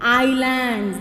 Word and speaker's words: island: Then islands. This is not Iceland. S is silent here.